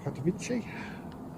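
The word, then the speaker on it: Karachi: I'll do a practice one with the rhino that's going about to take off to Katichi. That's how you pronounce it.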